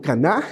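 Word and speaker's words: קנה: Viene de una raíz que se pronuncia como caná en hebreo y significa lo conseguí, lo logré.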